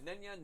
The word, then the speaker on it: Nenya: It was the Nenya, Narya, and Vidya.